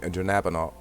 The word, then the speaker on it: dronabinol: Synthetic THC, which we just mentioned, Marinol and dronabinol. Dronabinol, I pronounced it right, okay?